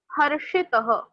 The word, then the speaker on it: हर्षितः: सी आई am pronouncing it एज हर्षितः. सिर्फ boys लोग यहाँ पे ध्यान देंगे. मम नाम हर्षितः, माय नेम इज हर्षित. तो आपका जो भी नाम है उसके बाद यू हैव टू पुट विसर्ग एंड you have to pronounce it एज ह.